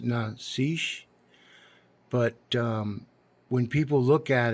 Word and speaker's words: Nazish: The thing about her name, her last name, it's pronounced Nazish, but when people look at it, it looks like Nazi H.